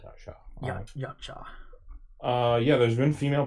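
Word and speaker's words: Yautja: I think it's called Yachtja.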